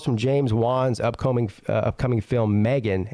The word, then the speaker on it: M3GAN: According to this, robotic dolls from James Wan's upcoming film Megan, M3GAN is how it's spelled, spooked fans at LA Chargers game.